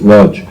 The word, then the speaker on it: Łódź: Manchester was kind of the city of Łódź, or the Jews pronounced it Lodge.